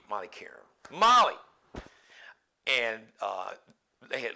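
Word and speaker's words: Qerim: the name Molly Kim I think she said Karen it's spelled with a cute Molly Karam Molly and uh they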